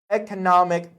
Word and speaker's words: economic: Economic potential. Very good. Economic potential. Remember, sometimes you might want to teach them pronunciation. You would say economy, okay? Economy, but you would have to say economic, okay?